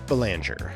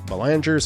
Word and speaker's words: Belanger: Shortstop, Mark Belanger, another French one here. Belanger's father was French-Canadian, so it's assumed at some point this would have been pronounced, I guess, Belanger.